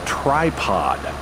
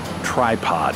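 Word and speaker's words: Trypod: clever word play uh those two words of course sound identical to the ears but they're spelled differently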